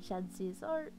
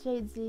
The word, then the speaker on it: Shadzi Zor: I am Shadzi Zor. People usually pronounce it Shadzi nowadays, so that is fine too, I guess.